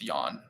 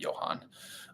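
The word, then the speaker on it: Jhon: Duran sorry I for it's Yan I'm sorry not Johan um somebody somebody messaged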